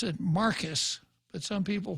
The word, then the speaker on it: Marquez: I would pronounce it Marcus, but some people pronounce it Marquez. How about you, caller? How do you pronounce it? Marquez.